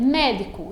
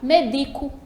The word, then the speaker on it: médico: certo é por exemplo se eu disser médico identifica que a tônica ela não tem última Mary e não colocar sempre não vai ficar médico lascar medico e essa palavra medico também